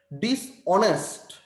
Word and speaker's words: dishonest: You have to begin your pronunciation from the second syllable or second consonant or vowel. Honest. Second letter. Dishonest.